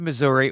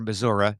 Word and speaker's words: Missouri: how they say it do they say Missouri that certain parts certain parts certain parts Missouri I I have been to Missouri or Missoura depending on uh where you are and who you're talking